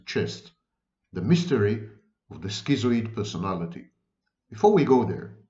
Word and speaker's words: schizoid: I know I know Americans should say skito but of course it's a wrong pronunciation of the word never mind schizoid schizoid loners people who